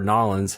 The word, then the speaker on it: New Orleans: movie takes place in New Orleans or nollans how they say it in the movie so I was wondering